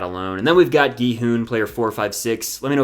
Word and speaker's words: Gi-hun: I used to say ji-hun, which feels more natural to me, but I'm trying to say his name correctly.